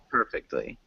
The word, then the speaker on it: perfectly: per perfect honey close we emphasize the first syllable so it sounds like perfectly perfectly good perfectly perfectly